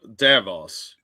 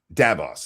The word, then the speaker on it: Davos: The only way I can remember it is that it's very similar to Davros, the guy that created the Daleks in Doctor Who. Oh, So you okay. just take the R out and it's Davos.